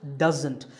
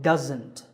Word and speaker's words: doesn't: of that it's pronounced doesn't there's a sound there it's not an S sound so doesn't here's a quick exercise